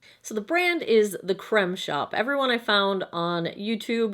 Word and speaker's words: The Crème Shop: the first e but on their website their tagline is the creme de la creme of beauty and you say that creme and not cream so I'm going with